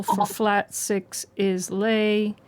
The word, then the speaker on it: le: Syllable for flat six is lei. Syllable for flat 7 is t.